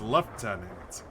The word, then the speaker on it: lieutenant: Always found it odd like how lieutenant would be pronounced as left tenant.